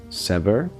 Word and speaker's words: sever: family name no s short sound sever so it's a stress on the second syllable sever sever all Stefan is brought